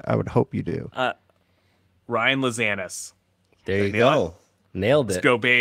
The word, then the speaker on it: Ryan Lazanis: Ryan Lazanis.